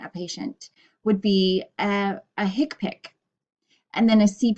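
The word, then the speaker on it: HCPCS: system so the hick pic coding system it's pronounced hick pic like H I K Pik hick pick it is called the healthcare common procedure coding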